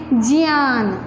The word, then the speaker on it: ज्ञान: ऐसे आप लोग बोलते हैं ज्ञान, लेकिन सही उच्चारण है ज्ञान, विज्ञान। तो क्योंकि इसका बाद ज प्लस इय उच्चारण होता है, इसलिए इसका क्या बोलेंगे, ज्ञान। आप लोग ज्ञान बोलते हो, पर सही उच्चारण ज्ञान है।